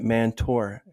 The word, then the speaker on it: Mantor: mantor I believe that's the way you pronounce it mantor right that's correct cool now he established and